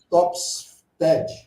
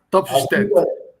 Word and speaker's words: Topfstedt: Está marcado aí, mas eu estou tentando pronunciar o Topfest. É isso? Topfstead. Topfstead. De novo. Topfstead.